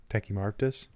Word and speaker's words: Tachymarptis: Tachymarptis. Marptis. That's a weird syllable.